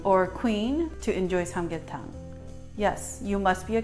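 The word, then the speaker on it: 삼계탕: Now, before we begin, I'm going to teach you how to phonetically pronounce Sam-Gyeh-Thang. Sam-Gyeh-Thang.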